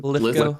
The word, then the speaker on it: Lithgow: Lithgow.